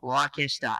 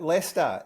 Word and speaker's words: Leicester: Steve Leicester, and did I pronounce that right? Oh, not quite. Leicester. If you ever played Monopoly, it's like Leicester Square.